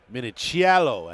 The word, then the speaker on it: Minichiello: Minichiello as he told me it's best to pronounce. He likes to make sure you get that little bit of Italian in there.